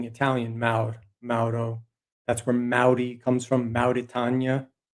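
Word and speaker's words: mawr: And it's even pronounced in, they'll say the Welsh counterpart is M-A-W-R, but you recognize that U-V-W interchange, it's Maud.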